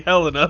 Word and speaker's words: Helena: It's supposed to be Helena, but I said Helena.